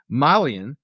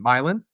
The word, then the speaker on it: myelin: a substance called and I'm going to probably mispronounce this called milean right m y l i n milin right I want you to think of myelin